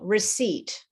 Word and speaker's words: receipt: pronounced incorrectly for example receipt so the bill that you get when you buy something is a receipt it's not a receipt okay the p is silent in uh there's a